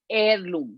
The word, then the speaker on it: heirloom: Now the second word is heirloom. And let me spell it for you, okay? HEIRLOOM. So it starts with an H, but H is silent. So we pronounce it heirloom, not heirloom.